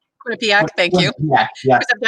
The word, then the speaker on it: Quinnipiac: Quinnipiac. Quinnipiac. Quinnipiac, thank you. Yeah, yeah. I have to put the pronunciator in.